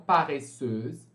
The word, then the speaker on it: paresseuse: Vai ficar então paresseuse aqui. Sendo que vocês não pronunciam o último S, né? Vocês vão pronunciar esse S aqui como se fosse um Z. Paresseuse.